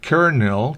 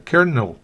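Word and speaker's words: colonel: final es bien corta kernel Coronel recuerden la l como en muy pocos otros casos muy pocas excepciones se pronuncia r en este caso expresamente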